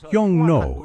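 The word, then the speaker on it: 흉노: vilified them with the name Xiongnu, which is pronounced Yongno in Korean, which means ruthless and savage slaves.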